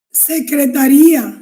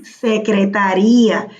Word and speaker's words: secretaría: Bueno, si lleva acento no sería secretaria. Secretaría. Secretaría.